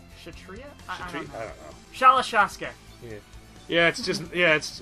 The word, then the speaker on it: kshatriya: love it kiss you kshatriya kshatriya sorry yeah cuz I think maybe the K is silent kshatriya shell shocker yes yes